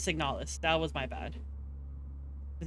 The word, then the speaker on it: Signalis: Replica, no, this is, yeah, okay, I said it wrong. It is Signalis. That was my bad. The game is called Signalis.